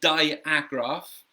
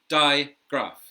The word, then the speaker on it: digraph: to be careful here people want to say diagraph but it's just Digraph two syllables diagraph okay and so